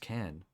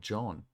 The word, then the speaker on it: Can: to meet you kenj so in Turkish can is not pronounced can it's pronounced like John that's interesting I don't